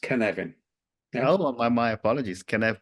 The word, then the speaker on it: Cynefin: the pronunciation because it's we so it's it's pronounced canvan oh my my apologies can can well wellsh